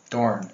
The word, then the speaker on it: Dorn: There's an R in it.